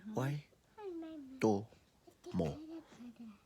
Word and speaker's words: Waitomo: don't know all right the why in the part it's very similar to the word why is and why do